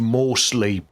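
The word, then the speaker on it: Morrslieb: It's pronounced Morslib.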